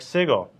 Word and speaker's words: sigil: cat gifts to O hard G just like sigil obviously it's a hard G but not like jet